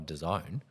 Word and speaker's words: DAZN: Yeah, that's how you say it, DAZN.